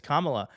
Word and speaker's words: Kamala: said that yes yes it's from K it's comma I did like know if I'm like saying